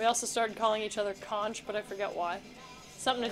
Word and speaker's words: conch: How come in SpongeBob they say the magic conch? Because they're wrong. I've learned it from people who live in the Bahamas. Pronunciation, let's hear it. If it says conch, I'm gonna throw your phone.